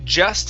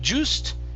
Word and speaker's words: just: stammered okay good here this word is just instead of juiced it's ja just yes